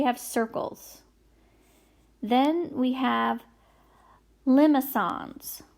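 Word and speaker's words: limaçon: we have limo songs that's how you say it limos on that C is a soft C it's like a s so limo songs I wrote it here like how it sounds a limo song and then we have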